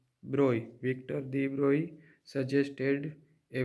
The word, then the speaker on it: Broglie: In 1924, French physicist Victor de Broglie, this is French word pronounced Broglie, Victor de Broglie suggested a very bold and new hypothesis and says nature is symmetrical.